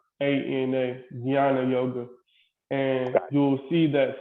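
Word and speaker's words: jnana: that but so this even though it's spelled j-n-a-n it's pronounced um g-y-a-n-a gianna yoga and you'll see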